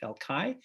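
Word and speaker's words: El Call: It's spelled C-A-L-L, but it's pronounced El Kai.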